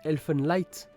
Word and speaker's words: Elfen Lied: Mais du coup ça se dit Elfenlight. Light. Ah oui, parce que du coup en allemand le D après le E passe devant pour faire un peu la prononciation.